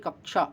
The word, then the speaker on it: कक्षा: का प्रोनाउंसिएशन करता है तो हमेशा कक्षा को बोलेगा, कक्षा। तो कक्षा, तो यहाँ पर का नीचे हलंत लगा है तो शा यही हो जाएगा।